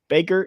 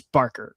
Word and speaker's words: Barker: I'm sorry I've been saying Baker, it's Barker. Curry Barker, not Baker.